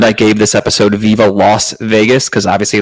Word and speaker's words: Las Vegas: I really like the name that I gave this episode, Viva Las Vegas, because obviously Las, L-A-S, is how you say Vegas.